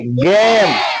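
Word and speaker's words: game: अब यहाँ पर ऐसे गेम में तो नहीं पढ़ रहा है इसको, मतलब ई का उच्चारण नहीं होगा, क्या हो जाएगा? गेम है। ई बिल्कुल नहीं बोलेंगे।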